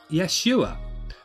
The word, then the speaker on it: Yeshua: also see that the Jesus figure's name is pronounced Yeshua but what does does yes you are mean